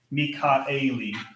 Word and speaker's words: Michaeli: So like when you see, yeah, Mikaeli, because that's a Hebrew name, and that would be two syllables in Hebrew.